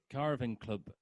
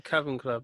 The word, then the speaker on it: Cavern Club: just not making any profit so uh liverpool's caravan club um is it a carving club is that you pronounce it and caravan club oh um one